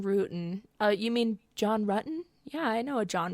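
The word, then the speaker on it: Ruetten: uh you mean John ruton yeah I know a John ruton really okay she immediately corrects them because well his name is spelled like you would think it would be pronounced Rootin right because it's r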